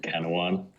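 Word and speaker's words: Canouan: most people couldn't even tell you how to pronounce if they saw it written down. It's called Kanawan.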